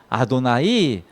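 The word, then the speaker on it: אדני: 하셴 이렇게 얘기하고 또 어떤 때는 아도나이, 나의 주라는 뜻인데 아도나이 이렇게 발음하거든요.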